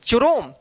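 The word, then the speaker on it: Chrome: आर ओ एम ई, क्रोम, इसको चुरोम नहीं पढ़ेंगे। देखिए यहां पे अब क्या हुआ कि सी एच का यहां पे क्या हुआ उच्चारण, क उच्चारण हुआ।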